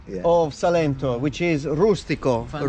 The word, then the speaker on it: rustico: of Salento, which is rustico. Fantastico. Rustico leccese. Rima con fantastico, infatti. Yeah, it rhymes with fantastico.